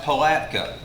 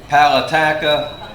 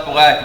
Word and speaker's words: Palatka: And we have one teacher that wasn't quite sure how to pronounce Palatka. And y'all have heard Palatka, Palataka, and you can imagine the number of ways.